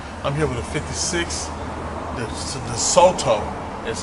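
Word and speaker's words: DeSoto: I'm here with a 56, the Soto, is how you say it.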